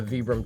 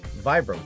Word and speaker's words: Vibram: The answer is both. The company is originally Italian, so Vibram is how it is pronounced in Italy. The founder, Vitaly Berani, which is combined to be Vibram. But if I say Vibram to anyone here, they're like, pardon, what? So Vibram is fine, Vibram is fine.